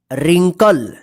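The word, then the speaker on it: wrinkle: लिखना देखिए यहां पे रिंकल डब्लू आर आई एन के एल ए रिंकल रिंकल का मतलब होता है झुरिया देखिए यहां पे यहां पे डब्लू जो है ना साइलेंट रहेगा ठीक है ध्यान रखिएगा डब्लू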